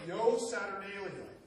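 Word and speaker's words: Io Saturnalia: and what we still celebrate to this day pronounced Yo saturnalium which I just love that since the word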